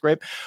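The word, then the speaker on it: Greyp: company grape last year spelled weird but it's pronounced grape what's interesting about fauza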